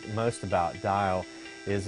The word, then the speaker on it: DAEL: pronounce whether it was Dale ordeal or dial butt dialed is ultimately stuck so you can tell if somebody knows us or not if they pronounce it dial the digital arts entertainment